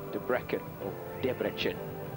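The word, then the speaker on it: Debrecen: took gold on the floor that was in debrecken as we learned to pronounce it in hungary we're on the way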